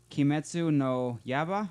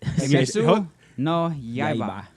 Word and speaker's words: Kimetsu no Yaiba: say it like you say when you speak in Spanish, like Say, Kimetsu no Yaiba.